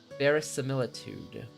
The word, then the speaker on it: verisimilitude: own name, which gives the legend a certain verisimilitude. Verisimilitude. There's no way that's how you say it. Verisimilitude.